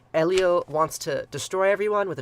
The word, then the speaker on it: Enlil: these guys names eliel yes it's Elio not enlil um Elio wants to destroy everyone